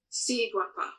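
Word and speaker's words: Siguapa: Sea Guapa. Sea Guapa. So Guapa, so the G is hard. Yep.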